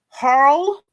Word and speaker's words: Harle: So really, Judge Harle, pronounced like Carl, that's all.